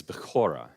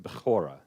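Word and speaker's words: בכורה: The Hebrew word for birthright is bechorah, and I'm pronouncing it completely wrong, but bechorah. It's got that sound on the K.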